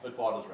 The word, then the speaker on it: Witwatersrand: Witwatersrand.